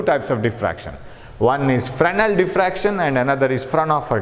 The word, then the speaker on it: Fresnel: One is Fresnel diffraction and another is Fraunhofer diffraction. So Fresnel diffraction and Fraunhofer diffraction. You see the name, very long name Fraunhofer and short name Fresnel. S is silent here.